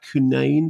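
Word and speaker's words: Cunnane: So directed by David Fra who co-wrote the film with and I think this must be pronounced Pat Kunain cu n a ne whose original script was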